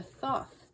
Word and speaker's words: Thoth: And the Thoth Tarot. I'm not sure how to pronounce it.